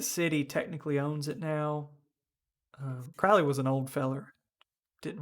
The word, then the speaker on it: Crowley: The house was how you pronounce it? Quanley? Crawley? Crowley is a name. He's Crowley.